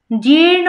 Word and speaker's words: জীর্ণ: জীর্ণ বস্ত্র, এই যে জীর্ণ, জীর্ণ এখানে যে রেপটা আছে এই রেপটা একদম পূর্ণভাবে আপনাদের উচ্চারণ করতে হবে, জীর্ণ, জীর্ণ বস্ত্র, বস্ত্র, এই